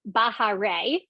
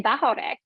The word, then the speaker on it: Bahare: So even what she had told me, Bahare, was the Americanized version. And she told me this in our follow-up conversation. She said, "It's actually Bahare."